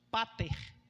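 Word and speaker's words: πατήρ: grego sabe o que sabe como é que ela é pronunciada é Pater e essa palavra família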